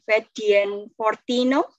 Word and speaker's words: Fedien Fortino: Dari, ini saya bingung bacanya, Fedien Fortino, benar? Apakah saya salah dalam melafalkan namanya?